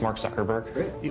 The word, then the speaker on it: Mark Zuckerberg: Can you just say your name and pronounce it so nobody messes it up and they have it on tape? Sure. It's Mark Zuckerberg.